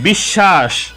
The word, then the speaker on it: বিশ্বাস: বিশ্বাস, শব্দের মাঝে যে বর্ণের সাথে বফলা সংযুক্ত হবে ওই বর্ণের উচ্চারণ দ্বিত্ব হবে, অর্থাৎ ওই বর্ণের উচ্চারণ দুইবার করতে হবে। বিশ্বাস, এখানে তালব্য স্বয়ের উচ্চারণ দুইবার হয়েছে।